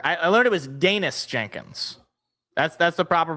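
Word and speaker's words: Daniss Jenkins: Danis Jenkins or I I learned it was Danish Jenkins. That's that's the proper pronunciation.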